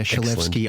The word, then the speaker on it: Shalevski: It was spot on, yeah, Shalevski. I feel like a lot of people get it wrong, but it's actually exactly how it's spelt, Shalevski. So if you break it down, it's not too bad.